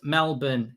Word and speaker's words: Melbourne: Melbourne is pronounced Melbourne. Just a heads up before the game. Melbourne. It's not. It's Melbourne.